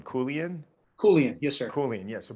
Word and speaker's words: Koulian: Koulian, yes, sir.